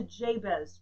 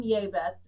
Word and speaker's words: Jabez: His mother called him Jabez, and again, this is the Hebrew pronunciation of Jabez, which we're more familiar with.